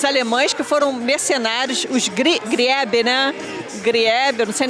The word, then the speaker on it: Griebe: A pronúncia é Griebe.